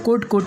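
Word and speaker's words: could: उसके बाद में वुड के बाद में शुड के बाद में कुड के बाद में वॉक, इस तरह से इसे प्रोनाउंस करा जाएगा।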